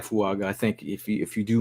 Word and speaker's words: Fuaga: So Talise Wagu, right? Fuaga, bruh. Fuaga. You just add syllables in there.